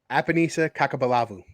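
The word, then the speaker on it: Apenisa Cakaubalavu: Kakao Balavu? This is Scott's favorite name to pronounce. So one of my favorites. Get this right. Ready? 3, 2, 1. Apanisa Kakabalavu.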